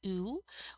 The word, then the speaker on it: où: relative pronoun so you're going to usually use ooh when the antecedent indicates a location sorry a